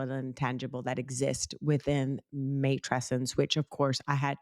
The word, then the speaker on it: matrescence: intangible, both tangible and intangible, that exist within matrescence, which of course I had to go and look how to even pronounce that word because it's not one that I even know how to pronounce properly. Matrescence, did I say it properly?